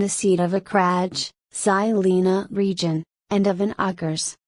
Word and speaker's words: Žilina: Žilina, Slovak pronunciation, German, Zilin, or Zlan, Hungarian, Solna, Polish,